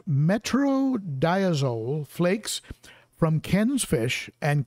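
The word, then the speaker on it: metronidazole: would say get a bag of metro it's pronounced metro diazole flakes from ken's fish and give them to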